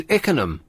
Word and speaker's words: Ickenham: Oh, no, it wasn't Ruislip, it was Ickenham.